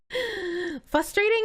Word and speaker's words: frustrating: okay no bar you frustrating has an R after the f I say it like